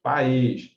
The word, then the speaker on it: país: Se você separar corretamente essas palavras aqui, ó, francês, país, além e aliás, contando de trás para frente, o acento está sempre na primeira sílaba.